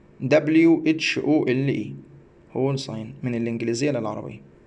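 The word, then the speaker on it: whole sign: طيب كلمه هول ساين، دبليو اتش او ال اي، هول ساين، من الانجليزيه للعربيه ننطق كده هول هول، ماشي، ننطقها كمان مرة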